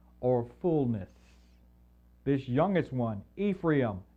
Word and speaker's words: Ephraim: it means fulfill or fullness this youngest one Ephraim Ephraim as it's pronounced in the Hebrew is going to be